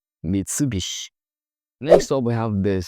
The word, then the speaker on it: Mitsubishi: Mitsubishi, Mitsubishi, Mitsubishi.